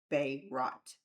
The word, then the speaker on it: Berat: So today, we're talking about Berat, Albania, pronounced roughly Berat.